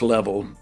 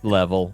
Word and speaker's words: Leavell: to America settled and somehow the name got pronounced level. We got we got lazy in America and we were like you know what level it's fine.